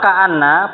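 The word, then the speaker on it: كأنّ: Kalau ka'anna penulisannya begini. Ya, penulisannya dikasih hamzah.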